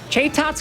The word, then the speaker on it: Chatot: Like Chatot. Chaitot's correct. No, it's not. I'm gonna die on this hill. It's Chaitot. Chatot. Chaitot.